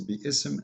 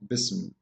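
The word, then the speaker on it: بسم: If you want to say the word correctly, it is bi-ism, not bism.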